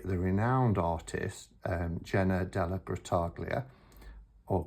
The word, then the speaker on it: Grottaglia: The artwork is by the renowned artist, Jenna Della Grottaglia, or Grottaglia. I don't know if the G is actually silent, it's Della Grottaglia, or if it's a hard G and it's Della Grottaglia.